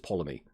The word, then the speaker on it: Ptolemy: The T's just silent, right? It's just Ptolemy.